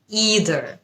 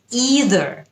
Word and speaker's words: either: প্রথম শব্দ either, either, either এটা হচ্ছে ব্রিটিশ উচ্চারণ এবং either এটা হচ্ছে আমেরিকান উচ্চারণ।